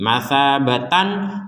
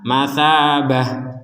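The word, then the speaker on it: مثابة: misalkan saja gitu ya tapi karena tnya berbentuk bulat seperti ini maka hukumnya lain sekarang hukumnya adalah ta menjadi huruf ha ketika berh berhenti matsabatan matsabah seperti itu kalau berhenti kalau dilanjutkan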